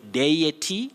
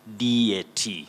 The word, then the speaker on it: deity: Yusuf, that is a very tricky word when we talk about English pronunciation, because you say deity and you can also say deity.